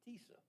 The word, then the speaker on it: TISA: So now we're going to, I originally pronounced this Tissa, but I've been instructed it's like Lisa, it's Tisa. So hopefully I can say this right.